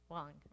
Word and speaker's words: Huang: How do I pronounce Huang. Thank you. Wong, right?